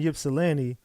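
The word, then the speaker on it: Ypsilanti: she is in in yilani the Y is pronounced like an I I call it yipsy IPS it don't matter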